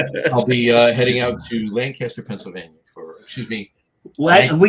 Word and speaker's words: Lancaster: I'll be heading out to Lancaster, Pennsylvania for. Excuse me. Well, you did it again. I did it again. Well, I did it for everybody's benefit because most people call it that. It's Lancaster.